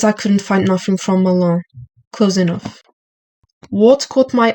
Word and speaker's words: Mâlain: Oh, from Milan. Melon? Milan. Oh, okay. Can you spell it out for me?